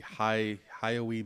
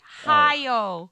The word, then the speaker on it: Hayao: Whereas The Boy and the Heron is apparently Hayao Miyazaki's last film. What? What? Who is Haoi? You pronounce his name. Hayao. Hayao. No. Why? Did I say we? Hayao.